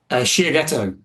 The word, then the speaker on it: Shiageto: also dropped his website, Shiageto. How do you say that correctly? Shiageto. It's a Japanese word for a sharpening stone, for all those who are curious.